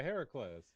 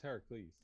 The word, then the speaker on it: Heracles: right now thanks yeah here are clothes isn't that really it's heracles oh it's heracles yeah if concerts i